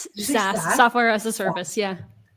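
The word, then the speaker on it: SaaS: SAS software as a service.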